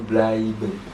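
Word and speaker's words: bleiben: nah dibacanya ituh belben kita lihat lagi yang tadi itu e sama i itu dibacaben a a Jadi blben bukan kita lanjut ketig SP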